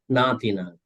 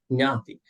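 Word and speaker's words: ñāti: So if you say like that, Natina, Natayo, Natipeta, that's a mispronunciation. So you have to say Nyati.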